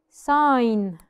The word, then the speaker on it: sign: followed by n okay sign sign I could tell it's sign because usually the G is silent sign sign knock knock